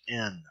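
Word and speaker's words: ἐν: market has no sound thus epsilon new with a rough reading Marcus pronounced hen but with a smooth breathing mark it's pronounced in so there's no sound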